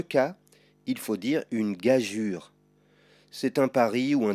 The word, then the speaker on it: gageure: L'orangeade, un pigeon, une gageure, que tu pourras voir aussi écrit comme cela. Mais dans les deux cas, il faut dire une gageure.